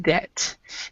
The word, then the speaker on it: debt: is silent oh and we actually do not pronounce the b here and we don't pronounce